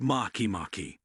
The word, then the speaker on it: Makemake: atmosphere Discovery and naming make make pronounced makimaki was first observed in March